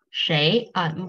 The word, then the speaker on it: 谁: 谁 Shay. Probably they have two ways to pronounce it, but most of Shay, Chinese Shay. people we prefer to say the Shay.